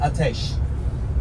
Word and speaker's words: Ateş: My family name is Ateş. Ateş. A-T-E-S. S with a syllable. Ateş.